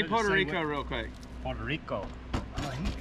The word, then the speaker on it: Puerto Rico: Say Puerto Rico real quick. Puerto Rico. How did he just come out? You gotta roll your R's. Jake, say Puerto Rico. Puerto Rico. You gotta roll your R's. I never would have expected